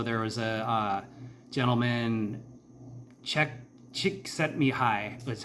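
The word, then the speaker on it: Csikszentmihalyi: State and so there was a uh gentleman Che chick set me high is how you say his name I think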